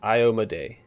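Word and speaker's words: Iomedae: I keep forgetting it I looked up it the pronunciation by the person who created her and it's IO Maday each of fragment of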